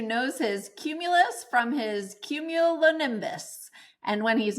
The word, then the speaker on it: Cumulonimbus: Did I pronounce that right? Cumulonimbus?